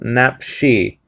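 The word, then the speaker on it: נפשי: So napshi, and the horn is just telling you that that the emphasis is to be on the last syllable.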